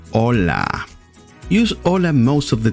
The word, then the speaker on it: hola: learn how to pronounce properly hello in spanish hola o la hola don't forget to subscribe hola do not say hola or holla the pronunciation the correct pronunciation is hola can you say it hola hola or live